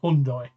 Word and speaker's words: Hyundai: a one or two number one hyundai number two hyundai which is how you pronounce it number one and